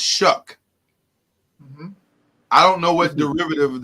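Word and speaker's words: Shough: a unique spelling Charlie it's spelled s h o u g h yeah and it's pronounced shuck I don't know what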